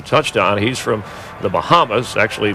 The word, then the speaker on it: Bahama: He's from the Bahamas, actually pronounced Bahama, North Carolina.